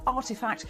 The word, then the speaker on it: RTFKT: that makes virtual sneakers rtfkt pronounced artifact is an nft studio